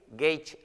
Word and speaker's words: Gage: Nuestra dirección es el 6542 de la calle Gage, se escribe G-A-G-E, Gage Avenue, se pronuncia Gage en inglés, Gage Avenue en la ciudad de Bell Gardens, California.